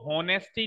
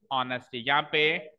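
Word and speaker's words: honesty: सबसे पहली चीज तो इसको होनेस्टी नहीं रीड करते, कई बच्चे इसको होनेस्टी की तरह रीड करते हैं, विच इज रॉन्ग। इसको कैसे रीड करते हैं? ऑनेस्टी। यहाँ पे एच is silent, H letter जो होता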